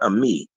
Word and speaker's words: Ami: back away from the keyboard, Amy. Just Thank you so much. I actually, it's pronounced Ami. Ami. Okay.